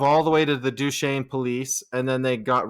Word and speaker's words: Duchesne: do we also know that we're descendants of Duchesne because we know how to say Duchesne instead of Duchesne which is how other people